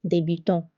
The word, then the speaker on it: débutant: L'accent aigu is placed on E and it sounds like A like A in English. For example, débutant.